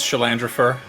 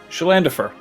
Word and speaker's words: Shalandafer: Oh wait, Is there an R in there? Shalandrafur. Yeah, that's. Salandra. Oh, I don't have a letter. Shalandrafer. Shalandafer. There's no R. I pronounced Ah. my own name wrong.